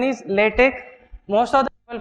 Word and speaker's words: LaTeX: Pronunciation is LaTeX. Most of the people pronounce it wrongly, call it LaTeX or LaTeX. X is never pronounced as X. It is C.